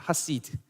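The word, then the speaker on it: חסיד: 단어는 제가 원래 히브리어 잘 안 하지만 그냥 발음을 일부러 들려 드리려고 알려 드리면 하시라는 단어입니다. 하시드 근데 어디서 조금 들어보신 것 같죠?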